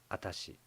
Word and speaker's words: atashi: by women which is atachi you can tell that the difference between the pronunciation of vashi and atachi is subtle I think atachi is simp simply corrupted form of Watashi but unlike Watashi atashi